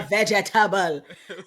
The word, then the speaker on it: vegetable: Cuz eat my vegetable. I don't know why why West Indians insist on so many syllables syllables.